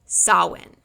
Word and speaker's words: Samhain: And they celebrated a holiday on October 31st called Sawin. I know it doesn't look like it says sawin, but that's how you spell it.